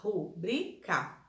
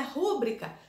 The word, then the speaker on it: rubrica: Rubrica. Mas não é rúbrica? Seria rúbrica se a palavra tivesse acento na letrinha, na sílaba ru, e não tem. Então, é rubrica, tá?